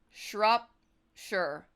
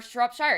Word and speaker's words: Shropshire: figure out how this how this place is pronounced shrop sure or Shropshire it's either one or called salip uh abbreviated